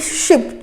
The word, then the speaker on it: sheep: तो ध्यान रखना है, यहाँ पे SHIP शिप छोटे की मात्रा, और SHEEP इसको हम लोग प्रोनाउंस करते हैं शीप।